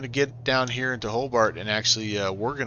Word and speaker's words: Hobart: see hobart do you not do you not pronounce the t whole bar you just say hobart okay at hobart hobart traffic seneca 11816 is